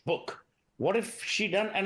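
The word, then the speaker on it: Buch: That's the pronunciation, not Butch, book.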